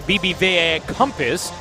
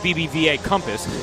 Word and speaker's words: BBVA Compass: brought to you by BBV Compass usually it's pronounced BBVA Compass Elena delodon with those